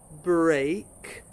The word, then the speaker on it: break: But logically, most English words with EA are an E sound. So researching it, I discovered that there are really only three words that have the same pronunciation: steak, break, and great. Those are all written with EA but have an A sound to them.